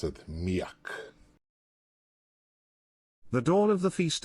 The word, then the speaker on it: Mijak: generated one thing is very important is that pronounce it miak the dawn of the feast of petrovton street